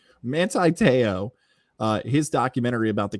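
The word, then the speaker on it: Manti Te'o: has released the trailer i always want to call monte like the fish monte teow i would say his first name wrong i feel like even saying it right there didn't sound manti because mantis the fish we'll go with manti manti teo uh his documentary about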